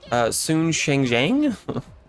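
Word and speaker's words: Sun Shangxiang: No, we'll take Sun Shengjiang. Oh, that's how her name's pronounced.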